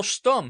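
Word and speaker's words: Stumm: grin why is Colonel stum he cried he pronounced it like the first syllable in stomach very pleased to meet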